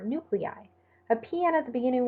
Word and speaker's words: nuclei: An I at the end of a word is pronounced I, as in bronchi or nuclei.